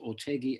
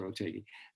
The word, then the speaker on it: Otheguy: my name is pronounced ortegi and that it rhymes with peggy and then people call me but no it's professor ortegi and uh thank you